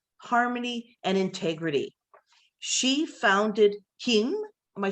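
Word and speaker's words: CAIM: and integrity she founded kim am i saying that right rose i am i know it's spelled c-a-i-m but it's pronounced cayenne okay perfect and um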